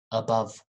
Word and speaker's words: above: above above above okay above the first sound is schwa above and then country country